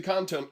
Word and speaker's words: content: I put the emphasis on the wrong syllable there. It's not a control that's kind of content. It's the content control can't be deleted.